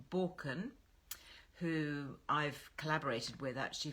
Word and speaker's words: Baukjen: Borken, go and check them out. They've got some really nice things. If you're looking at some bit of a wardrobe refresh for spring, it's spelt Baukjen, Borken.